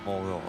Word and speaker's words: Moraut: So I did search it's Marcel Morort is the pronunciation or Bedorfa mess up